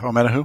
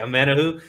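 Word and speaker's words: Omenihu: This year, I think – is his last name pronounced Amenahu? Yeah, Amenahu. Okay, Amenahu.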